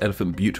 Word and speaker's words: Elephant Butte: course elephant part of reservoir well it's actually pronounced Elephant Butte reservoir but come on but so funny Elephant